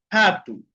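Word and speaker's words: rato: La primera es que cuando está al comienzo de una palabra tiene sonido de J en español, ¿no? Aquí la rode cuando está al inicio de una palabra, por ejemplo, ha. Okay. Hatu. ¿Qué significa jato? Significa ratón. Happitu.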